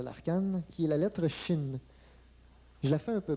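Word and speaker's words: שׁ: est inscrit au milieu se prononce chin et cette lettre là se continue de se prononcer chin tant que le point est inscrit au milieu aussitôt que le point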